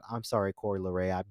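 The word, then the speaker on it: Coi Leray: I kept saying Coy Leroy, and my friends kept clowning me for that. I'm sorry, Coy Leray.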